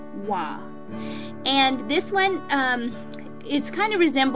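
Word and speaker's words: וָו: You will hear a lot of people who speak modern Hebrew pronounce this letter Vav, but keep in mind we're studying the biblical Hebrew, so we will say Wa.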